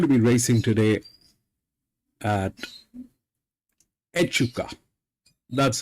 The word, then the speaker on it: Echuca: today we're going to be racing today at euka that's how my friends advised me to pronounce this place um we're going to be